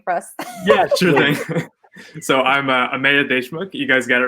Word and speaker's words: Ameya Deshmukh: who you are yeah well start with properly pronouncing your name for us yeah so I'm a made a schmuck you guys get it right the second time